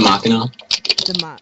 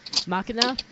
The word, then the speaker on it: Machina: The Machina? Why does everyone pronounce that wrong? Have you guys never heard the phrase Deus Ex Machina?